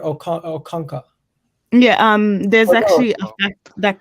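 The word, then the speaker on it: Okonkwo: speak on the goalkeeper is it look kong what i don't know how to pronounce it no no no it's it's uh it's arthur o'kanka yeah um there's actually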